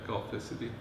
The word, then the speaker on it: Golficity: Okay, Golficity. Okay. That's how it's pronounced.